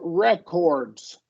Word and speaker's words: records: and then you said records and it's a noun it's functioning as a noun so it is re with the shorty here we're going to stress the first so we're going to